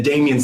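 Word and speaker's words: Damien: I know that's pronounced Damian.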